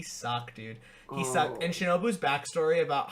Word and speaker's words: Shinobu: Like, the Shinobu fight, that's how you pronounce it? Yeah, Shinobu.